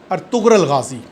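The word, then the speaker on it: Ertuğrul Gazi: आजकल, और वो है अर्तुगरुल गाज़ी। अर्तुगरुल गाज़ी भी कहते हैं क्योंकि टर्की के अंदर गैन प्रोनाउंस नहीं होती, तो अर्तुगरुल गाज़ी या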